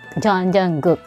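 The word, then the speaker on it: 정국: Guk, Jungkook. Okay. So, ayun nga yung last syllable ng Jungkook is guk.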